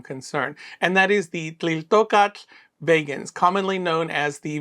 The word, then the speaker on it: Tliltocatl: I would say Tliltocatl, which is basically the wrong part where the emphasis goes. So it should be Tliltocatl.